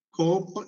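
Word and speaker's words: ܩܘܦ: ഒന്നാമത്തെ അക്ഷരം അത് മലയാളത്തിൽ ഉച്ചരിക്കുന്നത് ഖ. ഇഖ എന്ന് പറയുന്നതാണ്. ഇംഗ്ലീഷിലാണെങ്കിൽ ക്യൂ എന്ന് പറയുന്ന ഉച്ചാരണമാണ് വരുന്നത്. ക്യൂ. കോപ്പ് എന്ന് പറയുന്നു.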